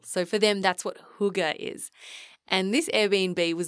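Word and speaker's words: hygge: that Airbnb was quite Huger now hugar is a word that I love it's spelled h y g g e pronounced hugar and it's a Danish word and it roughly translates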